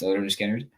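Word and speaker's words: Lynyrd Skynyrd: six I'm picking um from Leonard skinnard uh pronounced leard skinnard I'm picking the last song which is free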